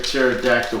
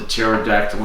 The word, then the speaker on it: pterodactyl: hear the dinosaur pterodactyl why do you never hear a pterodactyl pee because the poop is the pee is silent so the pterodactyl comes